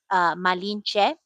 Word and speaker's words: Malinche: I know the way I heard it pronounced is Malinche is how it's also pronounced. Oh, okay.